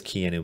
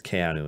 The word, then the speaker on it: Keanu: I know everybody says Keanu, but it's Keanu is how you say it in Hawaiian.